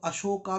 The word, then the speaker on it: अशोक: उसे बुद्ध रंग है अशोका अशो भी गलत है स होना चाहिए अशोक तो अशोका भी गलत है अशोक